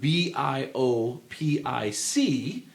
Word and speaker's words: biopic: people at Harvard that the word bio p i c can be pronounced two completely different ways with the same meaning some people say biopic some people say myopic you know or rhyming with myopic so I've got a